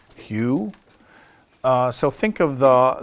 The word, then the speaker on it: HU: heart um it's written h u is pronounced Hugh uh so think of